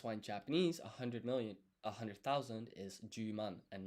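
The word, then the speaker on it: 十万: Um and so that's why in Japanese 100,000 is ju man and not hyaku sen.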